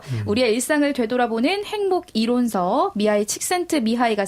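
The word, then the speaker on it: Mihaly Csikszentmihalyi: 그러니까 이 사람 이름도 이 영어로 하면 그런 발음은 아니지만 영어로 그대로 하면 뭐 미헤일리 칙센트 미하일리인데 더 어려워지네요. 더 어려워지죠. 그래서 그냥 본인이 원하는 방식으로 미하이 칙센트 미하이 이렇게 부르기로 했고 그냥 애칭으로도 많이 불렸습니다.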